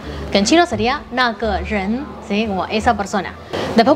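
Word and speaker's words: 人: es el de persona, que en chino se dice ren, en japonés también tiene como sus pequeñas complicaciones. O sea, no es que sea demasiado difícil igual pero como que al principio también me chocaba que se pronunciara distinto, ¿no? Como por ejemplo, persona en sí, cuando uno dice esa persona, se dice hito.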